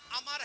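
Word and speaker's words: عمرو: Meme रा है ना और लिखने में आगे वा भी आता है लेकिन वो साइलेंट रहता है। है ना? अगर वो ना हो तो उमर पढ़ा जाएगा।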